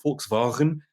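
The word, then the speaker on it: Volkswagen: we would call a fork's wagon and we pronounce it the german way a vw golf which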